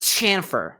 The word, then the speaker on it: chamfer: Try to pronounce shamfer like a shammy, but put a T in front of it. Chamfer.